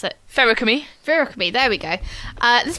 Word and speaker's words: Feruchemy: You're like, yeah, Feruchemy, like alchemy, but with ferrous for like iron.